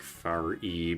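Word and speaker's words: Faris: Ferris is pronounced like far e because it's French.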